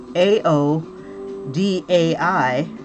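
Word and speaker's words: áo dài: wrap my head around that the D is a Y a Y sound in this particular instance and the dai is is like I like an eyeball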